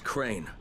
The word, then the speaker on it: Crane: No, my name's Crane. Crane? Wait. Crane rhymes with train and brain and sane and grain and rain and plane and the other kind of plane and.